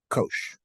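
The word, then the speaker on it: cosh: oh I'm I'm sorry and this is repr pronounced Kosh so these are the basic of the hyperbolic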